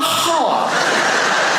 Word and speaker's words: half: I'll be back in a half half a half has an L in it.